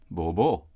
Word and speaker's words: bobo: have that word and in k-man we tend to emphasize the last syllable Bobo mm-hmm right but if